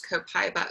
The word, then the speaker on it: copaiba: Copaiba or copaiba is how they say it in Brazil, where it comes from.